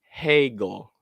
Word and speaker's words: Hegel: I think it's pronounced Hegel.